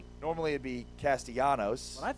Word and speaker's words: Castellanos: Normally, it'd be Castellanos, but I think it is Castellanos. Yeah. Normally you don't pronounce the L. In this case though, he he invites you to pronounce the L as effort.